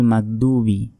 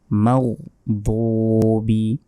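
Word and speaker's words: الْمَغْضُوبِ: দুবি বলা যাবে না এখানে দাল অক্ষর নাই এখানে আছে বদ বদটা মোটা মোটা ভাবে উচ্চারণ হবে মাও দুবি মাও দোবি আলাইহিম আলাইহিম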